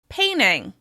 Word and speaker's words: painting: You may hear people say "painting" as "painning" instead: painning.